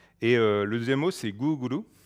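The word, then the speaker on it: グーグル: le deuxième mot c'est googlou gouglou c'est la façon de prononcer Google à la japonaise et vous remarquez qu'ici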